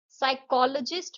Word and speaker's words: psychologist: साइकोलॉजिस्ट में जो है पी जो है वो साइलेंट है.